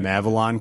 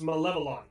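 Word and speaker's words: Malevelon: Mavalon Creek. Right. Here we go. We're going in. I think it's Malevolon. Malevolon? Malevolon. Okay, yeah, you're right. Malevolon. Okay. I've been mispronouncing it. Like a lollipop.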